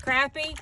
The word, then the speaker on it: crappie: saake did I say it right you did crappy crappie Speck white perch sacay whatever you want